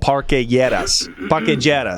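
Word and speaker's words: Parque Lleras: We went to this strip club in this old neighborhood called Parquejeras, as they pronounce it there.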